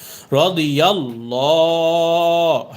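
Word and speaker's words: الله: ডানদিকে জবর এসেছে এজন্য আল্লাহ শব্দের এই লামের উচ্চারণকে মোটা করে পড়তে হবে রদিল্লাহ হা পেশহু রদি আল্লাহু আইন নুন জবর আন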